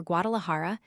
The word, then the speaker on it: Guadalajara: Guadalixara or Guadalajara is pronounced by the Spaniards with a strong aspirate. The X and J having the same force.